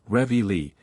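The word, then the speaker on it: reveille: their blue noses counted in the American Army it is ingeniously called revi Lee and to that pronunciation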